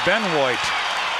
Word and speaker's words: Benoit: Utah Jazz it's on David Beno b n o i t pronounced Ben I guess that's the uh French interpretation of the I don't know my French is all so poor John doubled on Scotty